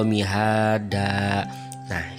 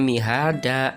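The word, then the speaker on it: مهادا: Alam naj'alil arda mihada. Nah, kenapa kok bacanya mihada bukan mihadan? Karena diwakofkan.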